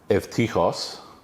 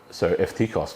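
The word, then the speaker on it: Εὔτυχος: It's a U in English, but pronounced ev in Koine Greek and Classical Greek, meaning good. Tichos, fortune. So Evtichos literally means good fortune or lucky.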